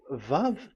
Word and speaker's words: Vav: So the word, the shape Vav is really pronounced V, like Vogue.